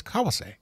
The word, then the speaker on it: Kawase: But the proper pronunciation is kawase.